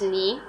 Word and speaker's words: knee: and pronounce them first is knee air k is silent next what h is